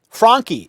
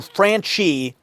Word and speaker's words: Franchi: Franchi is the correct Italian pronunciation of my name. My family changed the pronunciation to Franchi so that it would sound more American.